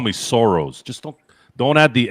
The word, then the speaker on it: Soro: His name is spelled Soro, not sorrow. Soro.